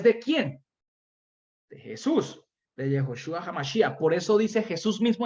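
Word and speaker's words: יהושע המשיח: De Jesucristo, de Yehoshua HaMashiach. Se manifestó, se dejó ver. Jesús no se pronuncia así. Yehoshua HaMashiach.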